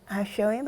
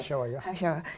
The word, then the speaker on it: HaShoah: And recently, I think they had Remembrance Day, David Yom HaShoim, I think it's called. My pronunciation is right. HaShoah.